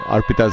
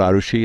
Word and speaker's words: Arpita: Okay, I've been saying Arpita's name wrong all this while. It's not Arushi, it's Arpita, number 4.